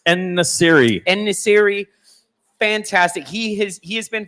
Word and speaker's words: En-Nesyri: Me, for example, saying, "Oh, that's striker En-Nayuzi," like not even being able to pronounce their names. It's En-Nesyri.